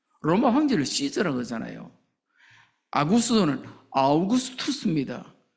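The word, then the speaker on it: Augustus: 아구스도는 아우구스투스입니다. 어 한글이 참 좋지요. 우리는 모든 언어를 다 발음할 수 있습니다.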